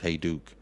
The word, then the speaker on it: Hajduk: how would I know it's pronounced hey Duke hey Duke that's really bad um